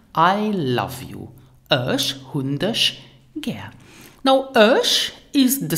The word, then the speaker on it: dech: subject, becomes dich in the accusative case and pronounce it dich.